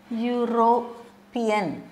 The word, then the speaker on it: European: begins that the word begins with European is pronounced like this europan okay so Y is a consonant isn't it